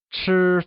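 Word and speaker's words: 死: tea set however make sure tonight gift anything in sets of four as the number for su sounds similar to the Mandarin word for death su it is considered rude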